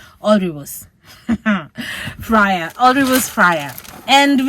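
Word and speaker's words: Alrewas: go back and ask how do you pronounce the name it's already woos all rivers a-l-r-e-w-a-s all rivers friar all rivers fryer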